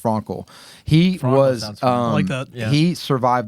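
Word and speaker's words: Frankl: first century so Victor Frankel or Frankel I think it's pronounced Frankel he was um he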